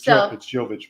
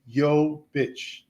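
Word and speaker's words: Jović: It's Jovic, by the way. You've been correcting me all night. It's Jovic. Okay, at least I can say guitar. So it's Jovic, pronounced Jovic.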